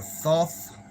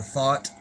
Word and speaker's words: Thoth: And supposedly he was also called Thoth or Thoth. Some people pronounce it Thoth, but I think it's actually Thoth or Thought. Like that's where the word thought, like in your mind, comes from, because this stuff is super deep.